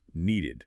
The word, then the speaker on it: needed: Needed sounds like needed. 2 syllables.